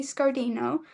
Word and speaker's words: Scardino: His name is Scardino. Did I pronounce that correctly?